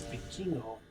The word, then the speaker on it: Vikingo: Like I understood that it was El Hijo del, but I kept thinking like I kept trying to say Viking or something to that effect.